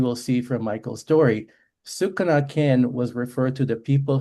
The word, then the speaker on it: Okanagan: In our case, it's the Syilx Okanagan people. And the name Okanagan, funnily enough, is a mispronunciation of the word Sukanakin, which was the actual word used by or still used by the Syilx people.